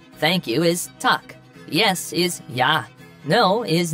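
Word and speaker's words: Takk: hello in Icelandic is pronounced Hollow thank you is tuck yes is yah no is nay goodbye is bless 14.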